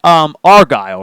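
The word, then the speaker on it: Argylle: It's pronounced Argyle, right?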